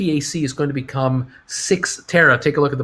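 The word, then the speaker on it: Cyxtera: is going to become six tara take a look at the bottom of this announcement right down here um cy c-y-x-t-e-r-a that's apparently it's pronounced six terra six terra is a company that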